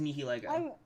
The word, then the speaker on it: Nihilego: So the fact that, like, Nihilego is hard to pronounce. No. The squid one. The squid one that Lucamine gets, like, mind controlled by. It's pronounced Nihilego.